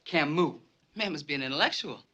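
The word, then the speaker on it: Camus: cus The Stranger yeah he's French and it's pronounced Camu ma' must be an intellectual we're in trouble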